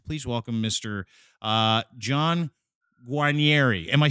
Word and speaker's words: Guarnieri: welcome mr uh john guanieri am i saying that right guanieri am i right i was perfect almost from the motherland that